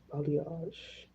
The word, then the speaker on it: balayage: That's how you pronounce that, balayage.